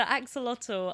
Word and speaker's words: axolotl: I know an axolotl. Sorry, I should pronounce my T's. The axolotl.